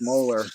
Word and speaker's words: Mohler: my abuser was dr mohler pronounced molar as in large teeth in the back rows project paper clipper